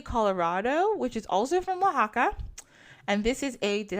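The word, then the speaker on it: Oaxaca: I said it wrong this is the Waka I knew I was going to say wrong to I was like don't say it wrong don't say oxyon that's what I want to keep saying I know it's wrong answer to mole po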